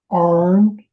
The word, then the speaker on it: iron: Arn, Iron, cross A-R-N, between iron. A-R-N, a cross between an Irish and an Alabama accent.